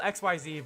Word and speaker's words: Xyz: spelled XYZ, but it's pronounced Xyz.